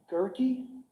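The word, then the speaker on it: Guerke: street okay and was that sergeant is it pronounced gurkey sergeant gurkey correct okay and that's spelled g-a-u-e-r-k-e correct i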